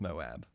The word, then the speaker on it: Moab: Moab, it is pronounced Moab.